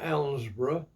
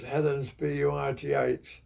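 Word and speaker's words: Helensburgh: hel ensboro we they we pronounced it ensboro but it was Helen bugh on the cide and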